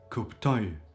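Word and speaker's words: kuptoj: So if I say for example I understand it is kuptoy kuptoy and the oi syllable at the end is stressed ktoy or we understand kuptoy.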